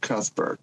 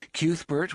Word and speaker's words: Cuthbert: it fanatically pronounced because I always said Cuthbert when I would read the word it be cuthber then someone was like cubert what maybe it was you Jess when you were first like cuber I was like cber now I can't remember how I how does it pronounce in the audio Let's Play a clip cubert was his oldest friend yeah you